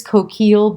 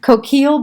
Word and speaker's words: Coquille: Look for this Coquille Blanc, and it's spelled Coquille, Blanc, Blanc. If I was doing French, I shouldn't say the C, but we're American, for gosh sakes. Coquille Blanc, and look for it in your wine store.